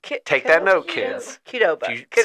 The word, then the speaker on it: Qdoba: It is Kedoba. Take that note, kids. Kedoba.